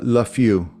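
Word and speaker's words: Lafeau: Uh, Lafu. Spell that please.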